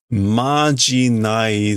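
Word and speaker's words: 呪い: And again, this would normally be noroi, but he says majinai, which is another way to pronounce, I guess, the curse. It's kind of like an older way to pronounce it.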